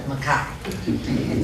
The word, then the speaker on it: Mchie: My new understanding is the correct pronunciation of Mchie.